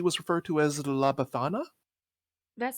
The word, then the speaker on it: Befana: I believe she was referred to as La Befana. That sounds familiar. La Bufana? Befana. Yes, yes.